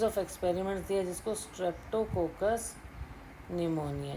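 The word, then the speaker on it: pneumonia: कोकस निमोनिया में आपको जैसा पता है कि पी हमेशा साइलेंट रहता है, निमोनिया।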